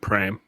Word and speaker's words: Paraparaumu: it's spelled p-a-r-a-p-a-r-a-u-m-u and people pronounce it pram this is just a